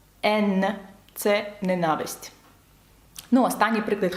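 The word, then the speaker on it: haine: «Сінема», чи таке слово як «ен», бачите, тут саме читається без носового, бо далі йде «е», «ен».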